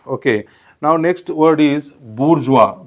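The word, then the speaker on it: bourgeois: टू be best okay now next word is बुर्जवा बी ओ यु आर जी ओ आय एस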